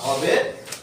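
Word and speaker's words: who: তাহলে আমাদের সবসময় খেয়াল রাখতে হবে কি, যে ডাব্লুর পরে এইচ অথবা আর থাকলে ডাব্লুর উচ্চারণ হয় না।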